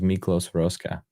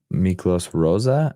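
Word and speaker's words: Miklós Rózsa: music for Ben-Hur, was Miklos Roska. I think that's, did I say his name right? Miklos Roska. Miklos Rosa. I might have put a ska in there, but he's a Hungarian American composer.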